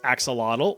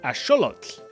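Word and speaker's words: axolotl: You've probably been saying this as axelottle or aote for my Spanish speakers, but it actually comes from the nawat language. So, it would be correctly pronounced as asholot.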